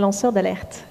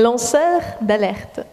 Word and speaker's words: lanceur d'alerte: Cannelle will be the native French speaker pronunciator, so I don't garble it.